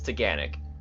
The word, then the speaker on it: Taughannock: you say it yeah in case you're wondering about the pronunciation think Don't Panic it's teganic a short drive from